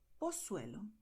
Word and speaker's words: Pozuelo: So in Mexico, Argentina, Costa Rica, and so on, people are going to say Zaragoza, El Pozo, Pozuelo, Barcelona, Ciudad.